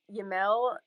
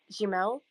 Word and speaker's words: Jamel: Totally, because like Yamel, and it's such a hard habit to break, but it's Jamel.